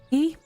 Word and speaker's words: quay: My dear and loyal subject, welcome to the Crooks Quay on the Key? Those are pronounced key, right?